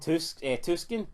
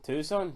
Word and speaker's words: Tucson: Tuscan, crowd are going mental. Tucson, crowd are going mental. Don't pronounce the C.